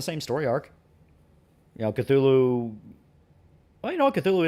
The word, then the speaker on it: Cthulhu: It's actually pronounced Cthulhu.